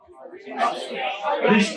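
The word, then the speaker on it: wrist: ज्यादातर कंडीशन में कभी भी अगर एग्जामिनर रिस्ट देता है, आर फॉर रिस्ट, आर for rickets, are से नहीं होता है, डब्ल्यू से होता है, लेकिन डब्ल्यू साइलेंट होता है।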